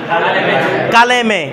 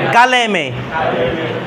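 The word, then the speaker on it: کلمه: পড়েন এটা কি লিখছি কালেমে কি লিখছি কালেমে বিষয়টা বুঝা গেছে এটা কি লিখছি কালেমে কালেমে কালেমে ঠিক আছে কি উচ্চারণ করব কালেমে কালেমে ঠিক আছে অবশ্য আরবিতে দেখি কালেমা বলি ফারসি বলবো কালেমে আচ্ছা হটাকে মালফুজি না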